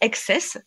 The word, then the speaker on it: XTSS: On peut prononcer Excess, même si ça s'écrit XTSS, mais Excess, Climate.